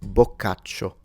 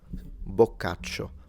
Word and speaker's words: Boccaccio: But just for the audience, if you want to know, Boccaccio. Boccaccio. So the I is not pronounced. It basically functions like the word fruit and the word friend in English.